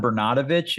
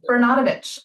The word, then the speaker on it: Bernatovicz: they pause Tracy tra it's it's bernatovich is one of the 10 variations of how you pronounce my last name but perfect bernatovich like there we go